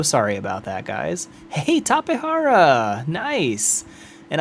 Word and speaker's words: Tapejara: Hey, Tapehara! Nice! And I am not ashamed of the way I pronounce that. Tapehara. It's a South American discovery named by people who spoke Spanish, most likely.